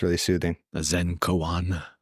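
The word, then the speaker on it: koan: a minute so it's really soothing a Zen Coan Coan is that how you pronounce it technically yeah gramar Nazi again Kan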